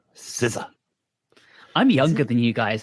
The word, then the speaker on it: SZA: Is that how it's pronounced? I thought it was size. I don't know. I assumed it was SCA. No, SZA.